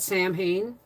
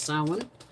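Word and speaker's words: Samhain: next one's salmon Halloween some people call it Sam Hayne because that's how it's spelled but it's actually pronounced salmon and crabs not crayon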